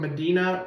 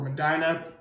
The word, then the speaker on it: Medina: Murray Grant number 33 is a 6'8 forward and freshman from Medina or Madina depends on how you pronounce it.